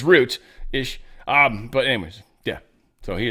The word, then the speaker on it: Rutte: And Trump is definitely liking Rutte. He's liking him. Yeah, I've just heard it pronounced a couple different ways. I'm pretty sure it's Root-ish.